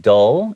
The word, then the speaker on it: dull: So I do want to call attention to the pronunciation of that word because a lot of times my students, they don't really necessarily stick their tongue out when it comes to L sounds.